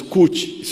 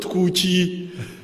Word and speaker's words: Kuch: She didn't know how to pronounce Kuch. It's not Kuchi. It is Kuch.